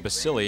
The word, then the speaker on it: Basile: Is that is Basile or Basile? Is that the correct, what's the pronunciation of that, Bob? Well, I guess people up here have been calling Basile, and I think that's the correct pronunciation.